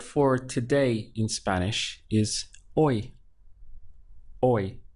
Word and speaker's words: hoy: Hoy, spelt H-O-Y, but we don't say hoy, you know, with that H sound, because it really doesn't, you don't get that in Spanish. So from here, it's just hoy, the pronunciation.